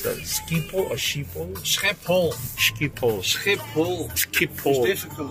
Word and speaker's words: Schiphol: How do you pronounce that? Schiphol or Schiphol?